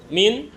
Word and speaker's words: mean: bagian yaitu rata-rata atau min min apa mean bacanya Min Ya udah itulah median